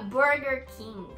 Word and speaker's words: Burger King: E na gringa se pronuncia Burger King. É tipo, esse burger, não é burger, é burger, pra cima, entendeu?